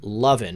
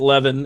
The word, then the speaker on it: Levin: tufa just saying yeah obviously mark levin is pronounced lovin mark is it really pronounced lovin I here at leaven everywhere but hey I'm from the South I'm